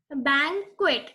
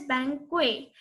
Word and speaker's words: banquet: Banquet. It is not pronounced as banquet. T is not silent.